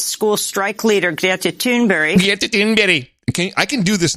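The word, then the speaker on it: Thunberg: sixteen-year-old swedish climate activist school strike leader greta tuneberry who was invited by democrats to a meeting of the senate climate crisis she the official pronunciation swedish climate activist school strike leader great to toonberry okay i can do this now and people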